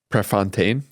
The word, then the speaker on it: Prefontaine: It matters because of this quote by Steve Prefontaine. Is that how you pronounce it?